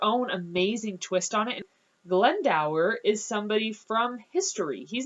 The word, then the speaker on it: Glendower: by the name of glendow that's how I pronounce it and I'm in a